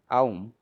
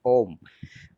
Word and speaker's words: Aum: we are aware that this Aum, which is also mistakenly pronounced as Om uh, by a lot of people, it is actually a combination of two swarams.